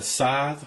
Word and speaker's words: Scythe: For the fan controls, I'm using the Scythe, which is pronounced correctly now.